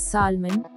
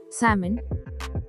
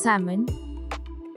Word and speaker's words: salmon: are pronouncing it as salmon but it is wrong its correct pronunciation is salmon c moon salmon l is silent here stress is on see